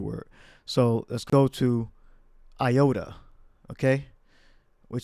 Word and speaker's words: iota: Iota. Iota. All right, here's a theory. It may have actually been pronounced with the Y.